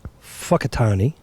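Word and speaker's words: Whakatāne: as much fun so whakatani fuckatani which is emphasis on the first syllable gotcha how they say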